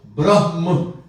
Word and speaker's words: Brahm: There's a big difference between Brahm and Brahma.